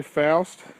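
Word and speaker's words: Pfoutz: This has been the Adam Foust house, and by the way, Foust is spelled P-F-O-U-T-Z. This has been the Adam Foust house here on Gettysburg Battlefield Facebook.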